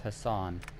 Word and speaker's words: Hassan: Okay, so her last name is pronounced Hassan, and she has way too much attitude.